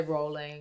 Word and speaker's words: Rowling: I say Rowling.